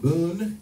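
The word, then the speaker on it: Bun: A good friend named Boon in Japan, that's spelled B-U-N, in Tokyo, made a awesome Splash Woman remix for me with nothing but Game Boy sounds.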